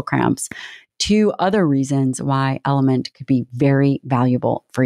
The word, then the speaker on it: LMNT: episode of the show it's spelled lmnt and it's pronounced element I've been using element